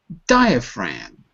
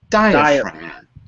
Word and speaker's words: diaphragm: Now where's the stress? Listen to me. Diaphragm. Diaphragm. Good. Which syllable has the stress? 3 syllables, which is the stress? First, second, or third? First. First, good. And notice that F is not in the word, but it's expressed with the PH. Fram.